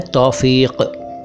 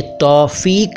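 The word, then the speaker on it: तौफ़ीक़: तो आज का पहला शब्द है तौफीक। देखिए, तौफीक नहीं है ये।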